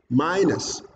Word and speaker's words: minus: Again, minus. My is stressed.